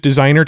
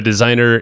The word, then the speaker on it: Designrr: So designer is, how do you spell that, Matt? Well, it's design, but with an RR. So Yeah, DESIGNRR. Yeah. So no E at the end.